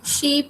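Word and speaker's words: sheep: वूल हमें शीप देती है। तो अगेन शीप के स्पेलिंग, एक बच्चा शिप बोल रहा था जिससे मैम ने पूछा था, तो this is नॉट शिप, इट इज शीप, double E आना है इसमें।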